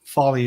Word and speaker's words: Foley: The E at the end of my name is E. A lot of people have trouble pronouncing that. It's like Porsche has an E at the end, Porsche, Fale, but Foley is how I say it.